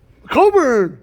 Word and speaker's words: Cockburn: Coburn!